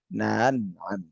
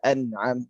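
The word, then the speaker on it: أنعم: Jadi pembacanya siratal ladzina na'an ya, bukan na'am. Na'am ini menyambung langsung, tapi harus diputuskan ya dan dikasarkan. Siratal ladzina an'am.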